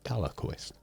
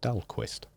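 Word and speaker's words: Dahlquist: in Scarlet dollar Quist always want to put an extra a or syllable into that like dalquist but it's dalquist right hello Scarlet it's me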